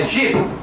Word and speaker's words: aegypti: do gênero edes olha vem a pronúncia como professor Sou muito exigente pra gente não estar dizendo aí a edes edes É egípto não é porque é em latim a e é tem som de e eu não falo latim